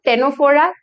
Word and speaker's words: Ctenophora: C to pronounced hoy, C to silent hoy. So itu hol cnidaria. Etu to same hobo Ctenophora, Platyhelminthes, Aschelminthes, Annelida, so ase Arthropoda, ta mane amar insect class to mollusca.